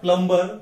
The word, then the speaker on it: plumber: अगला शब्द है PLUMBER। प्लम्बर बोल के हम रोज के इंग्लिश में यूज करते हैं, लेकिन यहां पे ब साउंड साइलेंट है। इसका करेक्ट उच्चार है प्लम्बर, नॉट प्लम्बर बट इट इज प्लम्बर।